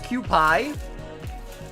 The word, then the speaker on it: Kewpie: It's pronounced Kewpie.